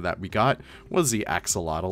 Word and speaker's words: axolotl: The closest thing that we got was the axolotl or axolotl, as you know, you're supposed to pronounce it.